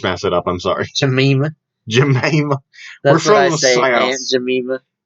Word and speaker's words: Jemima: Well, I'm saying people cancel cultured Aunt Jemima or Jemina. I just messed it up. I'm sorry. Jemima.